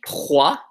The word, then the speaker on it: trois: Second word you should do is let's do trois. Just pronounced T-R-A or W-O, sorry. No, this is W-A.